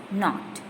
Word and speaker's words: knot: Yes, the answer is not. The answer is not. K is silent. K-N-O-T.